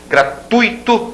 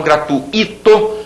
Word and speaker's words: gratuito: quro parêntese para substantivo gratuito e não gratuito fortuito e fluido o